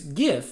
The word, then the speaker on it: GIF: pronounced jiff and that the image format is pronounced gif and it doesn't matter what even the designer of the image format says i stand by that